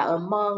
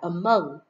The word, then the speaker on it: among: không các bạn nhiều Bạn đọc từ này là among là sai nhé among là sai từ này phải là among among these diseases are